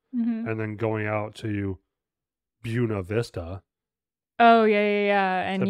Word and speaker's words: Buena Vista: um Camp Derby and then going out to bua Vista oh yeah yeah yeah and you pronounced it incorrectly and a local just got